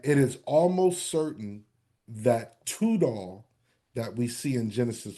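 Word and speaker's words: Tidal: so he's the servant of no mercy now title or it should actually be pronounced tudall and it says he's the king of nations.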